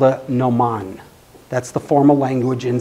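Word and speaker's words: gnomon: ground it's called a Noman that's the formal language in sundial terminology Noman starts with a silent G no Mon they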